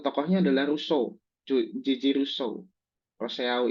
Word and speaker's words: Rousseau: Rousseau ini dibacanya Rousseau.